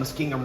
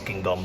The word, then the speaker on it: Muskingum: The tribes cede all claims to land in the Ohio country east of the Cuyahoga and Muskingum rivers.